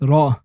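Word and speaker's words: ر: Ra is looking like the tail of a rat, and you pronounce it almost like the R of rat, but don't say Ra, but Ra. You say R, R, R, Ra.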